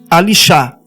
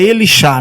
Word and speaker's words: Elishá: Nós achamos Elishá e tem rabinos que anunciam Alishá. Só que é Elishá, né?